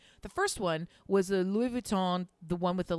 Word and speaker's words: Louis Vuitton: everybody has is that Louis Vuitton even saying the right name I don't know are you saying it like my mother Louis Von is how you say it okay good is how